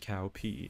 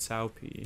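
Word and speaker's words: Cao Pi: think in the comments cow cow and cow pee and cow P are both mispronunciations of the name Sao Tao and Sao Pi yeah the most important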